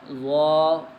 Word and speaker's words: ظ: لہجے میں ادا کریں، اردو تلفظ سے پرہیز کریں، یعنی بے، تے، سے، حے، خے، طے، غے وغیرہ ہرگز نہ پڑھیں، بلکہ با، تا، سا، حا، خا، طا، ظا پڑھیں۔ اس مثال کو ہم